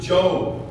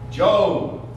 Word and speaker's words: Job: This one Sunday school kid of mine used to call it Job. Job. There's a whole book in the Bible about jobs. I said, nope, it's actually pronounced Job.